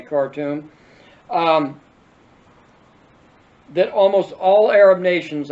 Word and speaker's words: Khartoum: 3 no's of Khartoum, not cartoon, but Khartoum, K-H-Toum, okay, Khartoum, that almost all Arab